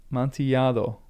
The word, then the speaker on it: Amontillado: Of the two L's, Amontillado.